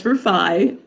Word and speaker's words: Rufai: So it's Rufai. It's like roof and I. It's confusing, but that's how you pronounce it.